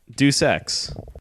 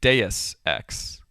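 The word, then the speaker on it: Deus Ex: in the machine oh uh de X right that is how most people say it supposedly it is actually Deus X aha so you're not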